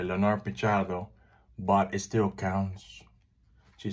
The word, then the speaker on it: Leonor Pichardo: English speaking only, and they will call it like Leo Pichardo, supposed to say Leonor Pichardo, but it still counts.